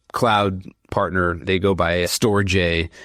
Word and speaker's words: Storj: They go by Storj. It's STORJ. Some people pronounce it storage, but we say storage so many times that it gets confusing. So Storj.